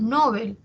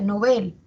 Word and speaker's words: Nobel: en otro lugar Sí eso pasa por ejemplo con no Nobel que nosotros muchas veces pronunciamos Nobel eh Y no no se escucha que se pronuncia Nobel no sin embargo si verificamos en el diccionario panhispánico de dudas esa palabra su origen es aguda esa palabra es aguda